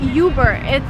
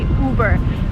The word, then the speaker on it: Uber: And Uber is originally a German word, but Americans use it in the sense of better. So it's not Uber. Again, you do not follow American pronunciation rules here. You just say Uber.